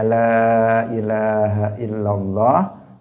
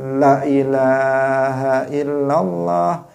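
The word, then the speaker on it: lā ilāha illallāh: Ada yang harusnya dipanjangkan, misalnya la ilaha illallah, dia membacanya, dia mengatakan asyhadu an la ilaha illallah, lahnya dipendekkan. Dan ini juga sangat berbahaya, kekeliruan yang fatal, kekeliruan yang fatal.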